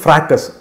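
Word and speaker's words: fracas: ஸோ ஃப்ரக்கான்னு ஒரு வார்த்தை இருக்குது, அதாவது ஃப்ராக்கஸ், அது அப்படியும் வந்து ப்ரொனவுன்ஸ் பண்ணலாம்.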